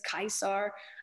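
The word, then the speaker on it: Caesar: when we pronounce it we use the hard c's and the hard g's you know gaius euless kaisar um so we lock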